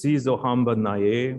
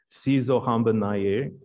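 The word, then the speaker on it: Sizohamba Naye: And it's in Swahili, which reads kind of like Latin, pronunciation-wise. So it's Si Zohamba Naye, wo wo wo, Si Zohamba Naye.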